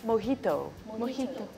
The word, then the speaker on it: mojito: for he told so the J the yeah is pronounced as ha right mojito but does it mean